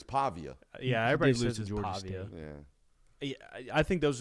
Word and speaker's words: Pavia: fourth suggestion would be pavilla ah come too much too much we're not even pronouncing that correctly I'm pretty sure it's Pavia yeah everybody I think